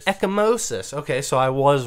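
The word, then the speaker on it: ecchymosis: again ryan oh you said it's so good echimosis echomosis okay so i was wrong but that would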